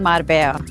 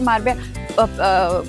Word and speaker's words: Marbella: लेकिन यहां पे मारबे मार्बेला एयरपोर्ट पे दो लोगों ने मुझे करेक्ट कर दिया। इट्स नॉट मारबेला इट्स मारबेया।